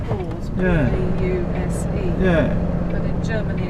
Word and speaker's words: Pause: It's spelled pause. Yeah. P-A-U-S-E.